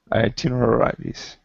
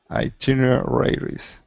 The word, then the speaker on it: itineraries: Itineraries. Try again. Itineraries. Itineraries. Good. So now say it faster. The stress is on the tin.